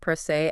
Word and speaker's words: pro se: And yes, for anyone listening, that is Bock Pro Se, and it rhymes with day.